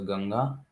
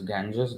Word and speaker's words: Ganga: The Ganges, I always like to read it as Ganga. English way of saying is Ganges. They cannot pronounce properly even one word Ganga.